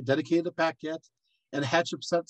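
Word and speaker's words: Pakhet: Dedicated to Paquette. And Hatshepsut, saying this by way, if you're wanting to know spelling, is spelled P-A-K-H-E-T.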